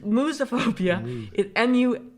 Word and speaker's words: musophobia: mosophobia moose spell that i think it's mosophobia musophobia the word comes from m-u-s moose which is like mouse which is mouse right german in latin